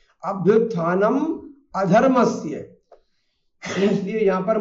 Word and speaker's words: अधर्मस्य: प्रायशः उत्तर भारतीय जो है अपने उच्चारण दोष के कारण से बीच में आने वाले ना और मा को लगभग आधा कर जाते हैं, इसलिए वो अभ्युत्थानम धर्मस्य ऐसा पढ़ जाते हैं।